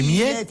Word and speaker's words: miette: Mais des miettes, il fait miette. Il y a qu'un i, pas besoin d'en faire l'accordéon. Des miettes.